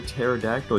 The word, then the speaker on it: pterodactyl: you not hear a pterodactyl using the bathroom I don't know why because the p is silent you are so happy